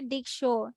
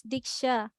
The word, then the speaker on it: dictionary: dictionaries have audio samples don't say dick sure it's dickshaw dictionaries okay online dictionaries